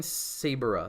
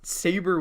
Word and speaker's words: Saber: saying it wrong like everyone's saying sabra sibera in the chat but like that's dumb it's saber with an a it literally makes her sound like mrs saber and i don't like